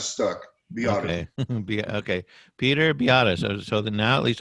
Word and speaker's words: Biadasz: Okay, okay, Peter Biadasz.